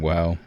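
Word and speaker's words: WAU: But, but it's pronounced WOW, so hard to, you know, not sound silly.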